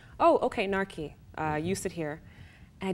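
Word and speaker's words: Narki: So my name is actually spelled N-A-R-K-I. Okay. It's still pronounced NAKI.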